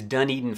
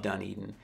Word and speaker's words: Dunedin: the third one on our list today is Dunedin Florida and I really struggled with this when